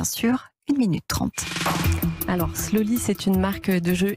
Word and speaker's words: Sloli: une des fondatrices de slowly je précise que ça s'écrit s l ol et à la française vous avez 29 ans